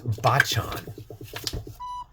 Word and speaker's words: Bachan: No, wait, it's Bachan. Stop mispronouncing it.